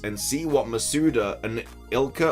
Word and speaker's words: ILCA: see what masuda and ilka or ilca apparently pronounce it is just ilka so that makes it